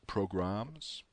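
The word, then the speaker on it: programmes: That's P-R-O-G-R-A-M-M-E-S, programs.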